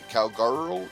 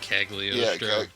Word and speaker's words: Cagliostro: The Castle of Calgaro or Cagliostro. No. It took me a week to learn how to pronounce that.